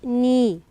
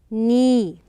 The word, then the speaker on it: knee: we have the word knee we write the K but we don't pronounce it so knee but we have to